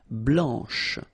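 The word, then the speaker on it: blanche: final C and then blanch okay remember when you combine this C you get the sound sh blanch okay so BL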